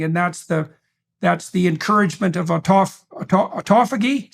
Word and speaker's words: autophagy: And then there's a separate set of benefits that go along with the keto diet / fasting, and that's the encouragement of autophagy.